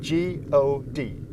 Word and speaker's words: god: the spell casting spells in Swedish good is spelled g-o-d so we say God when we say good